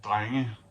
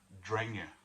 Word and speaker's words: Drenge: have a farmhand, and he'd be called a dreng. But this is an English band, and I don't think they had thought of that when they picked the name. So I think they pronounce it drenge.